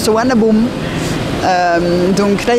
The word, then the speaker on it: Suvarnabhumi: Ça s'écrit Suvarnabhumi, mais ça se prononce Suvarnabhumi.